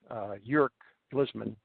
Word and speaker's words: Yerk Glisman: My brother, Yerk Glisman, for the last 2 years, I've been calling him York. And I got to make a public apology, and I finally know how to pronounce his name. It's Yerk Glisman.